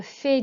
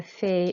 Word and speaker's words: fais: And I wash up with my sister is je fais la vaisselle avec ma sœur. Okay, so we've had je fais already. Je fais mes devoirs, je fais du vélo. So remember not to pronounce the S.